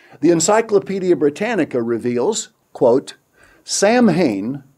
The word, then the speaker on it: Samhain: The Encyclopedia Britannica reveals, quote, Samhain, originally pronounced Samhain, Celtic for end of summer, one of the most important and sinister calendar festivals of the Celtic year.